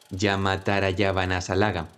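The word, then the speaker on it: yamatarajabhanasalagam: Veréis, la palabra tiene sílabas cortas y sílabas largas. Y si la pronuncias correctamente, suena una combinación de sonidos. Corto, largo, largo. Después, largo, largo, largo. Después, largo, largo, corto.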